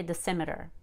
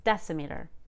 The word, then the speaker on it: decimeter: some exceptions are decimeter we don't say dissimiter sorry it's decimeter also millimeter finally let's